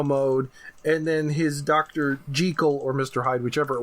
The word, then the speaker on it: Jekyll: Jekyll, or Mr. Hyde, whichever it was, being a refined gentleman in bot mode. Jekyll? I think technically that's how it's supposed to be pronounced.